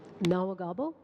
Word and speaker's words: Nahwegahbow: specifically Lynn Gruel, the Executive Director, and Amy Nawagabo. I can ask, please, for you to guide me on the pronunciation of your last name. Nawagabo.